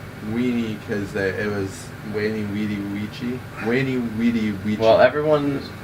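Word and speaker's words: veni, vidi, vici: Yeah, but when you say Latin, you don't say it with V's because they didn't say that.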